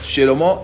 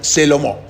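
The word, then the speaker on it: שְׁלֹמֹה: Por ejemplo, Shelomó decían Selomó. ¿Sí? Shir, por ejemplo, canto, decían Sir.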